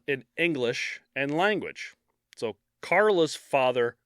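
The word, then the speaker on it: Karel: language so Carla's father Carl or Carol or however you want to pronounce it it's k-a-r-e-l so technically it's Carol but he immigrated to Canada in the 50s from Czechoslovakia so it's however they would pronounce it and he became a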